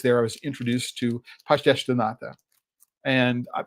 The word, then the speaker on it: pastéis de nata: And while I was there, I was introduced to pastéis de nata. And I don't know that I'm pronouncing it properly because I tend to pronounce with Brazilian Portuguese pronunciation as opposed to mainland Portugal Portuguese pronunciations.